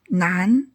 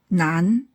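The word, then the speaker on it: 难: Nan. Hard or difficult. Nan.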